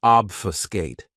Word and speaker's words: obfuscate: Another great verb, which is one of my favorites, is obfuscate. This verb has 3 syllables, and the stress is on that first syllable. Obfuscate.